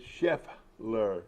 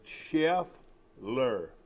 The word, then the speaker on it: Scheffler: get it from here his name is chef ler very easy to remember just just say chef ler chef ler very easy to pronounce and he's he's a